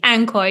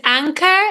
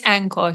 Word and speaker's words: ANKOR: right Jesse Williams from Anor that's how you pronounce it exactly Anor yeah a lot of people get confused is it anchor is it Anor it's Anor so you said it perfect okay pretty good